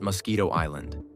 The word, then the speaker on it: Mosquito Island: In 2007, Branson bought Mosquito Island, and yes, that's exactly how you say it, for about $10 million.